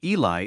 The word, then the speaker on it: Eli: this place is that Eli is the Hebrew pronunciation of that word but sabani is an